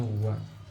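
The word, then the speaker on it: は: Jadi nani te wa ikemaseng, wa ini partikel makanya dibacanya wa.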